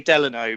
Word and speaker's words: Delano: reputable source that it's named after I think an ex-president and his middle name was Delano and that is how you pronounce it Angeles no answer that's what I'm going on it's definitely Delano but I do know